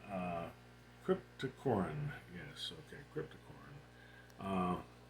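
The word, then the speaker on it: Cryptocoryne: to say green windy uh oh I keep mispronouncing that name uh crypto Corin yes okay cryp toorn uh and this of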